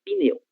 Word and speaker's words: pneu: la cosa che lo deumático una cosa assim em português escribe com e esta p deve ser pronunciada pneu.